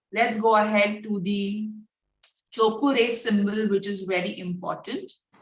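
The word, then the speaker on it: Cho Ku Rei: First, Chokure is pronounced as Chokure.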